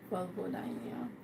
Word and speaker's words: vulvodynia: Okay, how can you have better sex if you have vulvodynia? How to pronounce that properly? Vulvodynia.